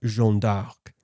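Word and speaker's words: Jeanne d'Arc: her anglicised name but in French she would likely have been referred to as jeon de or jeon dark this linguistic variation reflects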